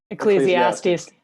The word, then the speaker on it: Ecclesiastes: How are we pronouncing this? Ecclesiastes.